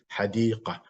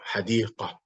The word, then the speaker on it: حديقة: So when the Ta Marbota is your stop, the pronunciation is similar to the ha. مثل, such as, or like, حديقة. See, حديقة.